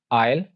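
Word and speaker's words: aisle: Like island, आयल और आइलेट। आइलेट means small island, छोटा जजीरा। तो यहां पर ऐसे केसेस में अगर एस एल से पहले आ जाए तो उसको साइलेंट रखा जाता है, ऑल्दो इसकी काफी एक्सेप्शंस भी मौजूद हैं।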